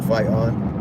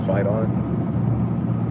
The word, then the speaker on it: FYTON: acronym which means fyt-o-n spell it however you want you know fight on but it says like fight on f-y-t-o-n